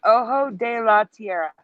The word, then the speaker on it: Ojo de la Tierra: This is Ojo de la Tierra. That's how you pronounce it.